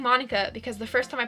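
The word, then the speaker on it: Monika: And so Japanese does not have a ma. It does have a ma sound. But the way it's spelled, it would be mo, not ma. So Monica is where I'm coming from.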